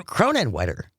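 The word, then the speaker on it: Kronenwetter: Cronin Wetter. That doesn't feel like a place. Cronin Wetter. Spell that for me.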